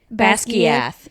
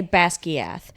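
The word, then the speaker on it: Basgiath: Basquiath. Yeah. I say Basquiath. It's Yeah. Basquiath. Yeah. That's Gaiath. Okay. Different stress.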